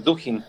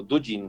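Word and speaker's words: Dugin: de Vladimir Putin que se llama eh Alexander duin O dujin como le quieran pronunciar señor con barba muy grande filósofo aj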